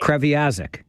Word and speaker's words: Kreviazuk: I can't even pronounce her last name. Kreviazuk.